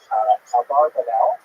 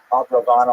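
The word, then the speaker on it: Abravanel: Many people pronounce his name Abarbanel, and that's because it's much easier, as Stephen says, it's much easier to rhyme the song to the name Abarbanel. You know, I was talking about it, a soft rock version of Abarbanel, but it's most likely pronounced Abravano or Abravano.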